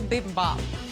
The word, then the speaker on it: bibimbap: i made an asian inspired shrimp and pineapple bibimbap what is this here it's an asian ridiculous